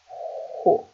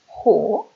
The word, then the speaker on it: who: Which, when, who. Who, porque es sonora como una H.